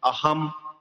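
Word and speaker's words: अहं: শব্দের শেষে অনুসার বসলে আমরা ম উচ্চারণ করব সেই অনুসারে, যেমন আহাম, আহা, অনুসারটি শব্দের শেষে বসেছে, জন্য আমরা ম উচ্চারণ করেছি।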